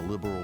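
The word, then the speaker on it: Liberl: Could you go to the general store and buy me a copy of the Liberal News? What? It's pronounced liberal.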